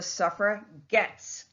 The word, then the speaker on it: suffragettes: Hand's intended insult and called themselves the Suffragettes with a hard G to signify that they were going to get the right to vote.